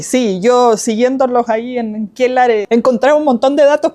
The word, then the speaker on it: Quellar: en la red social Quellar Volcanes, así se llama, y Quellar se escribe C-K-E-L-A-R, Quellar, que es una palabra aymara que dice relación con volcanismo, ¿ya?